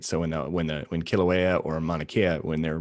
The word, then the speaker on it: Kilauea: right and i did a project on i'm butchered the name so i apologize is it kilauea yeah we had a bunch of vog come